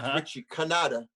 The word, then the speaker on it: Cantata: And the gentleman, first of all, you pronounce his name incorrectly. It's Richie Cantata.